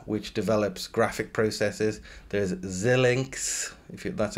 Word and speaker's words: Xilinx: There's Xilinx, that's how you pronounce it, in third place, which is a semiconductor company.